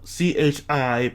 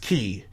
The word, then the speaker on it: chi: annoy you you know c-h-i but pronounced key not chi uh yeah as a